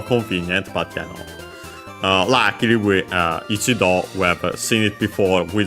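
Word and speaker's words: 一度: Luckily, ichido, we have seen it before, we see it a lot, it's quite used, so it's easy to remember then that it's accent on the last mora.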